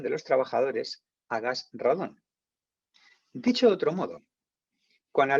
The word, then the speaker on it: radón: nunca de radón vale se dice radón se escribe radón con acento en castellano no dragón